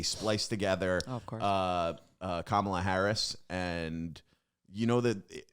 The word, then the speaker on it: Kamala: Oh wow, Kamala. not Camila. Kamala. That's Kamala. what I said.